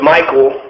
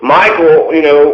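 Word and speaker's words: Michal: and her name was Michael, which is not what, I guess some women are named Michael. It's spelled differently, but it's pronounced the same. So Michael, wants to have sex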